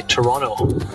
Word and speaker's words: Toronto: set yeah I guess we don't we don't really pronounce that last T so we say Toronto everyone here says toron